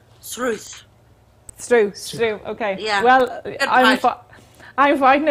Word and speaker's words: Sruth: And I think you're going to clarify, how do you say it correctly? Srú. Srú. Yeah, Srú. I don't know.